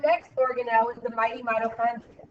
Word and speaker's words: mitochondria: it called again no mitochondria the CH is pronounced like a k Mito Andria hold on